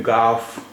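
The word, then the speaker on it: گاف: उर्दू का अक्षर है गाफ गाफ इसका उच्चारण हिंदी के ग जैसा होता है आपने मिलता जता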